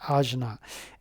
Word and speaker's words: Ajna: very powerful the AA okay in Sanskrit it's pronounced AA a j n a and the B mantra